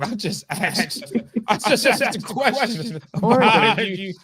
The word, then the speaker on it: Oregon: how I pronounce it, Oregon.